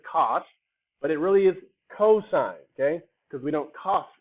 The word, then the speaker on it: cosine: but it really is cosine okay because we don't cough in my class and if you see tan i it's really tangent because we don't tan in my class keep your clothes on